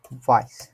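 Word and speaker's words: weiß: হচ্ছে সাদা জি ভাইয়া বলেন এর মেসি সাদা ভাইস ভাইস ভাইস না এটা ভাইস তো বলেন তো সাদা সাদা কালা কালা কি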